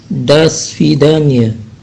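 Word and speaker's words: до свидания: Nah, di sini tulisannya itu ada huruf O pertama. Huruf O pertama itu, huruf O itu tidak diucapkan O, tapi A, makanya da. Digabungkan langsung menjadi das, digabungkan dengan huruf S itu jadi das.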